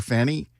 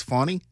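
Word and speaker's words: Fani: you go with Fanny but I know it's pronounced funny is it wait wait when you do a newscast and you're talking about that story you call her or Fanny even though her name's fonny yeah you get some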